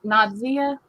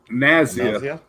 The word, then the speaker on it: Nazia: Hello, Nadia. Nadia, I think is how you say her name. I'm not sure. Nazia. Nazia? Yes. Yes. Yeah, Nazia.